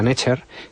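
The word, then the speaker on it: nṯr: Bueno, una de las palabras más importantes e interesantes de la lengua egipcia antigua es la palabra Ncher, que se pronuncia Natcher, que se traduce como Dios.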